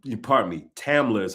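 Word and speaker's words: Tamla: Like let's take Tama or T, pardon me, Tamila is how you pronounce her name.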